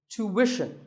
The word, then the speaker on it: tuition: British but after that it's not ition its mission tuition you have to put the what sound there so tuition word number